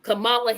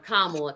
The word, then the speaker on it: Kamala: Michael and Robin and Henry Elizabeth War um Camala here or kamla because they get so angry of how her name is pronounced um Kamala just won Massachusetts I mean I I do